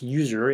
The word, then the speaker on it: usr: best place is under user local so CD SL user USR not us USR that's pronounce user in the Unix world so user local L